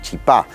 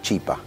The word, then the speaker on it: chipá: matecito, eh, y claramente los argentinos solemos decirle chipá. De hecho, hay comercios de chipá en todos lados, en los barrios. Ya se ha argentinizado el chipá. Ellos, los paraguayos, le ponen el acento en otro lugar, le dicen chipa.